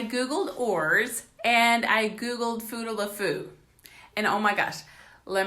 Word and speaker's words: Futaleufú: finally pronounced with stupid word so let me spell that for you f you tal you Fu futaleufú aka the Fuda aka the foo google it